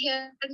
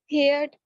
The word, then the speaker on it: heard: Well, I have read and heard many stories.